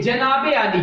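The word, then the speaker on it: جنابِ عالی: जनाबे आली, देखिए जेर नजर आ रही है, जनाबे क्या है ये प्रोनाउंस, इसका प्रोनाउंस क्या है, जनाबे आली। बाज बच्चे यहाँ खड़ा जबर लगा देते हैं, क्या लगा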